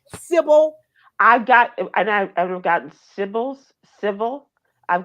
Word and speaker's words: Sybil: I just don't like to be called. It's not that difficult. It's two syllables, Sybil.